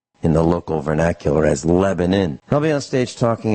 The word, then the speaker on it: Lebanon: Lebanon Lebanon is is how it's spelled it's pronounced in the local vernacular as Lebanon I'll be on stage talking about how I